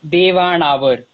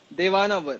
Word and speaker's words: Dewannavar: Just tell me how do I pronounce it right? So it's Devanavar. Devanavar.